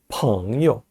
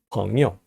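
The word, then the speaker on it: 朋友: 자, 발음은 朋友. 요는 원래 제3성인데 좀 약하게 발음합니다. 朋友.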